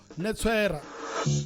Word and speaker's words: Netswera: So his name is Khuthadzo Netswera. So did I pronounce the surname right though? Yes, that's correct.